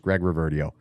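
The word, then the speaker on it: Greg Reverdiau: can check out the weekly news update by Greg Reverdio. And that's how you pronounce his name. You heard it here first, Greg Reverdio.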